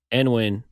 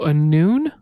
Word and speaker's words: Annwn: But also, I mean, Hydra Head, that record label released Annwn in what was it, 2008, I think, which is really interesting to me.